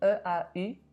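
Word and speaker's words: eau: If you see E-A-U in a word, you simply say O, just like the letter O.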